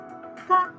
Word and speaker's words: ka: In Spanish, K is pronounced as ka, ka.